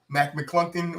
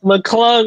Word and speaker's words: McClung: You know, Mac McClungton. That's how you say his name? Mac McClung, return of the Mac.